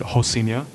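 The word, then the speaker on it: Rocinha: whole scene yeah yeah the Brazilians they pronounce the R as an H so it's actually poured out as Rosina but they pronounce it ho senior and I yeah I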